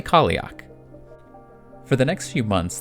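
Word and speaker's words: Cailleach: woman known as the Kalyak. I've also seen it pronounced the Kalix, or the Kalyak, but I'm going to say Kalyak.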